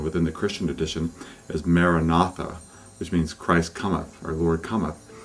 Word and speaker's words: Maranatha: And another one, a very old one within the Christian tradition, is Maranatha, which means Christ cometh, our Lord cometh.